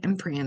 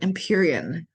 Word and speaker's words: Imperion: was saying it wrong I was saying emperion I'm like that's not it imperion the imperion by threads